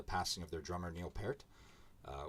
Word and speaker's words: Peart: of their drummer Neil Peart uh which is pronounced pair not pert I always call them